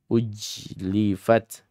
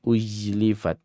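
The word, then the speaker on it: أُزْلِفَتْ: ya jannatu uz uz hati-hati adik-adik di sini setelah hamzah qat ada huruf zai itu jangan dibaca Baca wi atau uj uj ujlifat atau ujlifat uzlifat uzli u.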